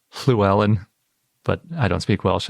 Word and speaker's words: Llewellyn: with it because it's basically pronounced the same as the double L in Welsh, like Llewellyn, if you say it in the Welsh way, which I think is something more like Llewellyn.